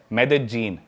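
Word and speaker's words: Medellín: उसकी एक सिटी है मेदजीन। स्पेलिंग में उसमें डबल एल आते हैं। मेदलीन होता है। लेकिन कोलंबियन स्पैनिश में ल बोलते हैं।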